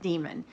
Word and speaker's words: Damon: da e mo n I actually went online to figure out how that's pronounced because Justine err pronounces it demon okay I can't do that I cannot I just I can't bring myself to call this character demon so I'm calling him Damon but his perspective is